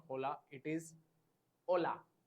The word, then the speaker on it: hola: So any word starting with H, H will be always silent in Spanish.